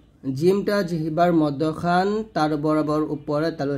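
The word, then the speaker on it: حاء: নিয়ে আসবেন ওয়াও এরকম ওয়াও এর গাণিতিক মান হচ্ছে যা যার মাখাজটা হলো জিহ্বার আগা সামনে নিচের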